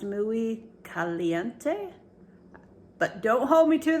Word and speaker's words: Muy Caliente: I believe it is pronounced Muy Caliente, but don't hold me to that.